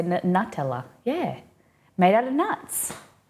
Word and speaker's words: Nutella: new no that's that's the way that CAD pronounces it I we say n nut Nutella I'm pretty sure all Aussies say Nutella yeah it's actually the accurate way yeah Cad